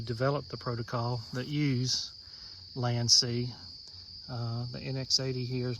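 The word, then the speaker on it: LANC: This is my Sony NX80, and I have heard other people pronounce it Lank, but I've always known it the proper way to pronounce it as Land-C or Control L.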